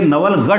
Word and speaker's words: नवलगढ़: देखते हैं नवलगढ़ नवलगढ़ इसे नवलगढ़ ढ ढ नहीं कहते बल्कि से पढ़ते हैं नवलगढ़ ढ़ ये ढ है और